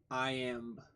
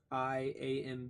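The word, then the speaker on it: iamb: The inverse of trochi is the No, it's not lamb. It's I am. I a m b. All one word. I am. I am. I hope I'm saying that right.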